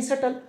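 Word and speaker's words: subtle: सूक्ष्म होता है इसका हम लोग कहते हैं सेटल जैसे मैंने कहा सटल डिफरेंस या हम लोग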